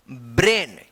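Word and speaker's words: brain: तो यहां पे भी अगर ए आई एक साथ है तो इसका भी उच्चारण क्या होगा? ए होगा। तो इसको पढ़ेंगे ब्रेन।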